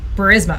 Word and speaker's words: Burisma: I actually don't know how to pronounce it. Burisma.